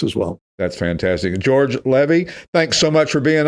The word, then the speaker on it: Levy: We just had George Levy, rhymes with Chevy.